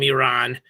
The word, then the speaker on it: Iran: Okay, first of all, we have to pronounce them Iran because because an Iranian reporter chastised one of